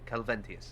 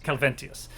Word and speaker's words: Calventius: Did I say it right? I always screw it up. Yeah, Calventius. Calventius. I always forget the I.